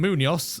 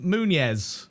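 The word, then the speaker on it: Muñoz: Instead of calling him Munoz, he calls him Munez, and I've just done the same thing as Jake.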